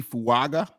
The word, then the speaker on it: Fuaga: got they got OT fuaga I think that's how you say his name he's a offensive lineman